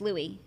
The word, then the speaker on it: Luis: No, it's not Louis. It's Louis. I said it wrong too. It's Louis. It is.